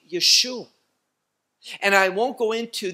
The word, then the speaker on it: Yeshua: nehemiah cepher nehemiah and chapter 8 he is called yeshua not as some mispronounce the name of messiah by saying yahushua never in the scripture do we see that no we see yeshua and i won't go